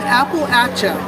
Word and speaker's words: Appalachia: mountains uh in appalachia and you pronounce appalachia i said it wrong i'm gonna throw an apple action wow remember it's not appalachian i stand corrected there